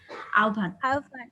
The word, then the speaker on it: আহ্বান: তোমরা তোমাদের গল্পই দেখো, একটা গল্প আছে না, আহ্বান লেখা আছে, আমরা কিন্তু মনে করি আহ্বান, আসলে কিন্তু এটা উচ্চারণ হবে হচ্ছে আহ্বান।